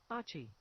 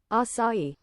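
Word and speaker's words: açaí: Achi. Oh, no. Achi? No. That's literally ACI. Oh, I missed an A. Whoopsies. Here we go. Acai. Acai. Yeah. Acai. Mm-hmm. I definitely was pronouncing that wrong.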